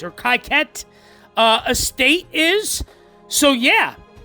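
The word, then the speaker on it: Kykuit: So that is where the Rockefeller family estate, the Kaikut, I think it's Kaikut or Kaiket estate is. So yeah, it's definitely pronounced Kaiket.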